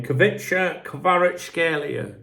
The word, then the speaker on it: Kvaratskhelia: So, just like, do you remember, how do you pronounce his name? Kvaratskhelia.